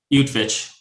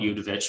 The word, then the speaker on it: Utvich: How do you pronounce it, Merle? Utvich. I mean, I used to call it Udovich, but I was corrected, so.